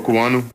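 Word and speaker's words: Okuayinonu: We've been butchered it. Here you go, Baldy. Samuel Okuwanu.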